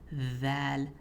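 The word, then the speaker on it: ذ: First up with val, it's a light letter, but it's soft. So, like I said, the sound of the letter will be dragged on or elongated. So, you'll be saying that not that long, but just showing you for an example.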